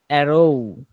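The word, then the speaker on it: arrow: পরে অ্যান অ্যারো, অ্যান অ্যারো শেষের উচ্চারণটা হবে ও সরেও সরে, ও ও আছে না, ও শেষের উচ্চারণটা মানে ও এর দিকে ঠেলে চলে যাব, অ্যারো, অ্যারো এভাবে।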